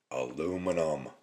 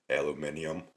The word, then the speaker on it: aluminium: Aluminum or aluminium as those across the pond like to pronounce it.